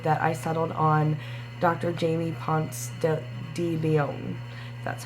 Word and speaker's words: Jaime Ponce De Leon: Jaime Ponce De Leon.